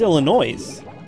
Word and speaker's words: Illinois: It's Illinois. Oh, look out. Yes is silent.